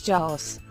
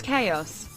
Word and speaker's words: chaos: it rendevu available chaos it's not pronounced as Jos it's chaos chaos means complete disorder